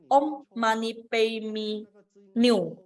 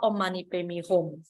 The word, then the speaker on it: Om Mani Padme Hum: Nenek tua malah membaca Om Mani Padme New. Ya, dia bacanya Om Mani Padme New. Dan biksu tua itu mengkoreksi, nenek kamu salah baca. Yang benar itu adalah Om Mani Padme Hum.